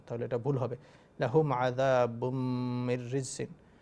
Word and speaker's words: لهم عذاب: লাহুম আযাবুন, এখানে আমরা এভাবে বলবো না লাহুম আযাবুন, তাহলে এটা ভুল হবে। লাহুম আযাবুম মিররিজিন, এই মিমকে ধরতে হবে।